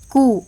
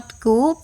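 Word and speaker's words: coup: टेरोटिस्ट सीओ यू पी क इट्स नॉट कप इट्स कू words with silent letter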